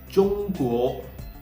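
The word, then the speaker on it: Zhongguo: how to pronounce it Jung Jung okay so we learned that zh is pronounced just like you pronounce the d g e in judge okay and the tip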